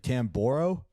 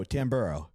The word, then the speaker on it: Tamburro: people say it's supposed to be borrow like tamborow yeah and we go tamburo and that's I'm just sticking with it I